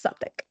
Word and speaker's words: Southwark: We're right by the Suffolk tube stop, and that's spelled Southwark, Southwark, but it's pronounced Suffolk.